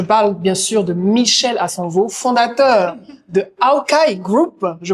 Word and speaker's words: Assanvoh: Je parle bien sûr de Michel Asanvo, fondateur de Aokai Group, je prononce bien.